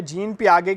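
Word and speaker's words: Jean Piaget: जीन Payag ठीक है जीन पि आगे की थ्योरी है टी साइलेंट होता है यहां पर इनकी थ्योरी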